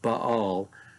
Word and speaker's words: Baal: and Baal, particularly Baal, that we call Baal, pronounced Baal, almost anyway, pronounced that way.